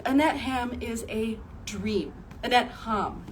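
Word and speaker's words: Annette Hamm: Annette Ham is how you pronounce her name.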